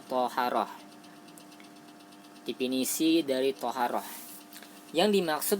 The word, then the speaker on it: thaharah: Tulisannya taharah, tapi bacanya toharah.